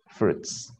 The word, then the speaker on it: fruits: Recordemos que la I no se pronuncia aquí. So we say fruits. Fruits. Yes. It's not fruits, but fruits.